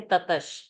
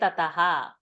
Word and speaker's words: ततः: remember महति right so they will not give the visarga pronunciation and say tatash they will say tataha so then we will only have to remember and say okay tataha is tatash shankhascha tatash shvete because in chanting the visarga pronunciation is shakara because the next word is shveta and shankha so the word is not tatash the word is tataha okay so tataha number